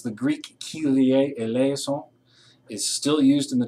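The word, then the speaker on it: Kyrie eleison: let me help you with a couple of pronunciations the greek keelier eleazon is still used in the churches today it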